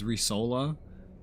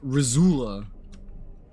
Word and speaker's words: Risola: everybody does you know because it's risola nobody says that even I don't say that sometimes sometimes I just you put my accent on it and say russola rasola resole over solo either way but usually most that reader will go like rizula or some